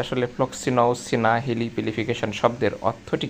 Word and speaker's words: floccinaucinihilipilification: এর বাংলা বা এর উচ্চারণটা হচ্ছে ফ্লক্সিনওসিনি হিলি পিলিফিকেশন। আপনারা উচ্চারণটি দেখতে পাচ্ছেন প্রোনাউন্সিয়েশনটা করলে কি দাড়ায় যে ফ্লক্স সিনাও সিনি হিলি পিলিফিকেশন।